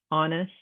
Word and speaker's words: honest: the q u qua silent h like in the word ghost ghastly herbs honest our that h is completely silent we're saying all